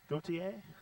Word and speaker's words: Gautier: Mississippi duty a how do you say that Gautier yep you're just west of here just west